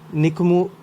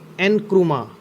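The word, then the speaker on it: Nkrumah: लिखा हुआ है ना, इनका जो एन से वो इस तरह से प्रोनाउंस नहीं होगा, वो प्रोनाउंस इस तरह से होगा, एनक्रुमा। इसे एनक्रुमा बोलेंगे, एच इसमें साइलेंट है, एनक्रुमा।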